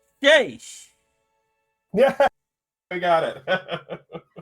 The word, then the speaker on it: Seiche: I say this right, Seiche. Yeah, we got it. Because the last time I kept mispronouncing it as Seiche. That's all good. That looks phonetically how it's pronounced, so sure.